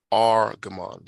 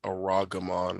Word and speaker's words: Argaman: Argaman. Some of you are saying Aragaman or Aragaman. You don't have to do that. It's just R, first two letters, gives you your first syllable, then Gaman, Argaman.